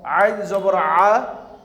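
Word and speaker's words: عَ: Ain zabar a. Goin zabar go. My dear students, you have to pronounce ain from middle of the throat.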